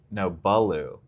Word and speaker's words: Balu: Baloo. Like Baloo from Jungle Book.